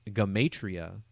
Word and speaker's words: gematria: a focus on the language of gematria otherwise pronounced gamatria and this kabbalistic practice